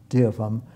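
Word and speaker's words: Deopham: Dear from Green. I'll spell that for you. D-E-O-P-H-A-M, Dear from, and then Green was G-R-E-E-N.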